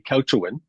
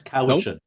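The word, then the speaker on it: Cowichan: The couchin is it couchin? It's Kawichin.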